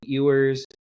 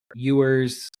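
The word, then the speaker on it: Ewers: But uh speaking of a player that uh had some embarrassing moments here, we had uh Quinn Eers uh or Uers I believe is exactly how you pronounce it.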